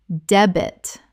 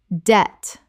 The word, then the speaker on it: debt: island island Word 183: debt Common mispronunciation: deb-it Correct pronunciation: debt The B is completely silent. One syllable only.